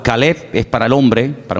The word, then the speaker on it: Caleb: Para diferenciar el nombre del perro se pronuncia diferente, pero se escribe igual. Caleb es para el hombre, para un hombre propio.